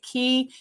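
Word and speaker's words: cay: that the Bahamian spell Key C ay so it spelled it's spelled c a y but they pronounce it key key or k both are acceptable but we very intentionally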